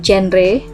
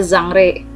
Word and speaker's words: genre: ke biasa ya terkadang kalau orang Indonesia bacanya genre atau genre gitu ya sebenarnya kalau kalian ke Google Translate kalian tuh besthuge Andre itu bacanya zamree jadi biar kita terbiasa bacanya zamree ya Nah di sini